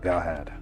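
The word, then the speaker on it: Galhad: awesome name g hog g a l h a d like Galahad but without the middle syllable yeah gahad talk to the generator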